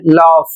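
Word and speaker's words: laugh: तो इन सभी में जो लोग लाग पढ़ते हैं तो लाग नहीं होता है। इसको याद रखें। इसको पढ़ना है लॉफ।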